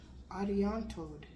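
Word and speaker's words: Arianrhod: Ariantod, Welsh. Ariantod. Okay. Ariantod, Welsh. It's Welsh. Ariantod. Ariantod, Welsh. Okay. Ariantod. So the R and the H sounds like a T.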